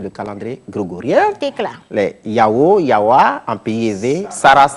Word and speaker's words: Yao: Aujourd'hui, c'est les Yao qui sont à l'honneur. Yao s'écrit.